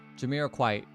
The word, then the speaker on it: Jamiroquai: Okay, Jamiroquai. Jamiroquai. Don't pronounce the T-E.